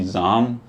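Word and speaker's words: زعم: ज़ाम को भी दो प्रोनंसिएशन हैं, ज़ोम एंड ज़ाम। मैं अभी पिछले दिनों नसीर तुराबी साहब की एक किताब देख रहा था और उन्होंने बहरहाल ये है कि उनके नज़दीक ज़ाम जो है वो बेहतर प्रोनंसिएशन है।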